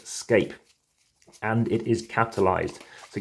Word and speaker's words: SCAPE: have all these different cards have letters s-c-a-p-e like the word escape but make sure we pronounce it escape and it is capitalized